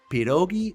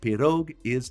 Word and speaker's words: pierogi: me that was crazy pirogi is plural and pirog is singular I've been saying pirogis my whole life gosh I'm terrible with